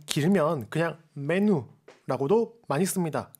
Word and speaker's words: menu: 아다 답타르 마카난이라고 하는데, 답타르 마카난이라고 하는 게 좀 길면 그냥 메뉴라고도 많이 씁니다. 그냥 메뉴인데 발음할 때는 우 발음을 넣어서 메뉴라고 하시면 되겠고요.